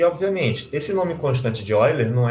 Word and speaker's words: Euler: A gente pronuncia Euler, né?